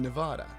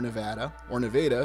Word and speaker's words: Nevada: Yet we look at the Lovelock Cave where this incident occurred in Nevada, or Nevada if you're in Iowa.